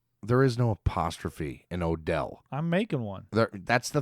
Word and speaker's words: Odell: There is no apostrophe in Odell. I'm making one. That's the thing, that you can't put an apostrophe where there is no apostrophe. But it's sounded out. O-Del. It's syllables.